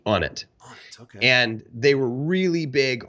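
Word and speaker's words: Onnit: out of Austin Texas it's spelled o-n-n-i-t on it and they were really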